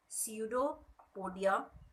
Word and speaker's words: pseudopodia: हैं, इस सीडोपोडियम ने, this P is silent, pseudopodia, these are the projections